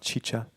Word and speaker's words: XIXA: Okay, so I have a band called XIXA, it's spelled XIXA. Some people call it Chicha.